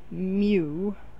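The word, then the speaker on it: μ: forget what the u stands for but it's pronounced mew micro the mu means micro okay so 47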